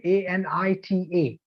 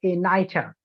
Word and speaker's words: Anita: there is a name a-n-i-t-a -n-i-t-a and a foreigner would pronounce that name something like a nighter or um no no let's say a Anita right Anita that can be the possible pronunciation now you have to